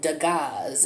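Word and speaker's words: Dagaz: so this rune here is called degas it's spelled d as in david a g is in go a z is in zebra uh there are 25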